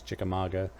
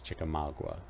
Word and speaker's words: Chickamauga: chickamauga ah i suppose it's on which side of the mason-dixon line how you pronounce it i think the north pronounces it as chickamauga and i think the south pronounces chickamauga chickamauga chicken i like